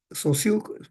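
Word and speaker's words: Saussure: muy bien es siug se pronuncia siug pero se escribe saur no entonces aquí lo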